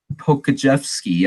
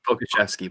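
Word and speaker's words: Pokuševski: Leaf, Ty Jerome, and Alexei Pokajevsky. I don't know how to say his name, but the rookie there as well. It's Pokashevsky, but you basically got it.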